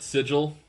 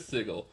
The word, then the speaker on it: Sigil: was a place called sigle great um if you pronounce it sigil um you're doing it wrong it's sigle um that's all that's how the natives pronounce it there but it was this